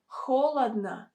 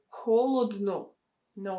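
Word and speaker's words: холодно: this letter o but it's pronounced as a sound ah hola na holadna we don't say holod no it will sound really unnatural however you also need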